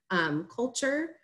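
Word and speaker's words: CLTURE: that with our partner, Culture. It's spelled C-L-T-U-R-E. They're out of Charlotte, so that's the play on words.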